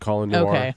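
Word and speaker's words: Colion: colin it's like but it's not spelled colin i know but i said he pronounces it calling yeah so he was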